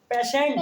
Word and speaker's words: patient: अगर TI या TE या TI आता है तो उसको सन पढ़ते हैं, तो होगा पेशेंट।